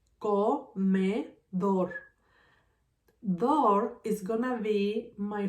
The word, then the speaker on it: comedor: In this word, comedor, my strongest syllable is dor.